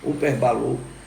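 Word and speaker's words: ὑπερβάλλον: Perceba que a palavra sobreexcelente é traduzida do grego uperbalou, a pronúncia deve ser essa, uperbalou, que na forma adjetivada significa extraordinário, né?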